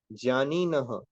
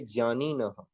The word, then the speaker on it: ज्ञानिनः: सर्वे ब्राह्मणः, प्लूरल है, ज्ञानिनः संति। अब आप इसको ज्ञानी भी बोल सकते हो, बट रियल प्रोनाउंसिएशन होती है ज्ञानिनः संति।